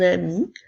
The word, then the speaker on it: ami: en ami rappelle-toi que lorsque je dis un ami la lettre N ne fait pas partie du mot ami alors tu dois écrire